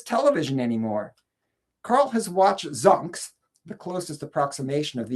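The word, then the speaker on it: Xunx: There's also Carl's son who goes by the name of Zunks, Xu NX, which is supposed to be unpronouncable because Carl, though he's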